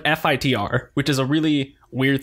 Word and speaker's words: Fitr: ability to pronounce because it doesn't have a vowel before the R so it's like Fitr which is a really